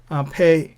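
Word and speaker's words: פ: Pe, it sounds as fan. There are two sounds.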